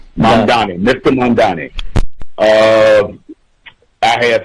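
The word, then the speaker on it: Mamdani: Is that the correct pronounce pronunciation? The uh Mandani. Mambi. Mani. Mani. Mandani. Mandani.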